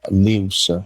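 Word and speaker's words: lius: we created a a non-profit uh called uh leaves news is the palawan uh word for coconut and it's spelled l-i-u-s and so we actually created an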